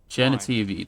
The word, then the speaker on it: Genitivi: Genitivi, that's how you say it. Yeah, that's what I meant to say. I just said it wrong before.